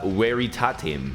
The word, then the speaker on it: veritatem: Next, in classical Latin pronunciation, in via veritatem. Veritatem is how you would say that.